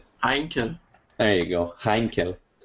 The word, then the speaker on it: Heinkel: some einken there you go heinkel all right well there you go you